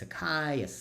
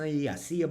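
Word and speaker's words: açaí: It's acai, ICEA bowl.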